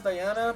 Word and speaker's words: Diana: Yeah, I know people can pronounce it as Diana, but no.